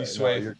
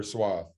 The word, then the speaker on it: TSwathe: You said swa before, but TSwathe. My bad. You're good. TSwathe. Everybody says that because it is it's pronounced both ways. It's swathe or swa.